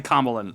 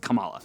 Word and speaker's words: Kamala: I want to say Kamlan, but apparently they pronounce it Kamala, right?